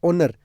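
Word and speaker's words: honour: ओ एन ओ आर ओनर ओनर का मतलब होता है सम्मान यहां पे एच है एच है यानी है लग रहा होगा होनर लग रहा होगा लेकिन एच यहां पे साइलेंट है इस कारण आपको ए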